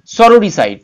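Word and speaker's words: sororicide: অর্থাৎ এখানে যেটি হবে সরোরিসাইড, উচ্চারণটা হবে সরোরিসাইড, ইজ দ্য অ্যাক্ট of killing one sister, অর্থাৎ নিজের বোনকে যে মেরে ফেলেছে সেটা হচ্ছে সরোরিসাইড।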